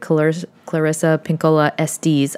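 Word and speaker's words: Clarissa Pinkola Estés: This is another tool from the great Clarissa Pinkola Estes.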